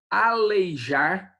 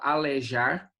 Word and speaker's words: aleijar: Aleijar, tem gente que fala alejar, certo?